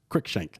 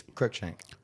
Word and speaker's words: Cruikshank: right Dane Cruikshank pitching Cruikshank that yes I'm pronouncing all the letters too much I'm over he knows it's Cruikshank Cruikshank Dane quick drink possibly